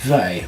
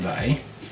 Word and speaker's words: wij: And likewise, wij also has one. Looks like the word we, so it's real easy to remember, but don't pronounce it like that.